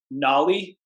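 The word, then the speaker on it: Nauli: it before, and I'm going to botch the pronunciation of this. I'm only Go for assuming it. Nolly. You nailed it. Nolly Kriya. Yes. Yeah. So you had a post on your Instagram today. Tell us what Nolly is, because it was phenomenal.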